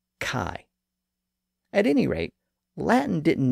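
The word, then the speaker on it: chi: Greeks called he but in English it's usually called Kai at any rate Latin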